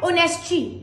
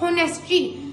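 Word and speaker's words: honesty: अब यह जो लव्स है ना इसकी प्रोनाउंसिएशन है ऑनेस्टी नॉट होनेस्टी। बहुत से स्टूडेंट्स होते हैं मैंने बहुत देखा है। अपनी क्लास में बहुत देखा है। बहुत मतलब अपने मोहल्ले में देखे हैं। कुछ टीचर्स भी ऐसे होते हैं जो इस लफज़ को बोल देते हैं होनेस्टी। This is called ऑनेस्टी। नॉट होनेस्टी। ये जो एच है ना हमारा ये साइलेंट है।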